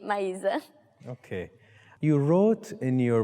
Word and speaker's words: Maisa: Plus, in Portuguese, it's mais. Mais. And it's the plus sign we use in math and stuff. And my name is Maisa. So in Brazil, we pronounce A as A. So, mais A. Okay. Which is Maisa.